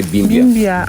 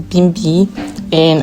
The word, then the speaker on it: Bimbia: You see those people came to this meti but now they cannot pronounce the name Bimi. They started calling her Bimia. Bimi was not. No, my name is not Bimia.